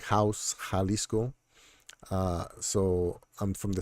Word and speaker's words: Jalisco: the state of Jalisco the J in Spanish is pronounced like the H in English uh like house Jalisco uh so I'm from